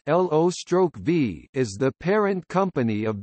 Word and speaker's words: Loewe: Low Technologies GmbH, pronounced LO/V, is the parent company of the German Loewe Group.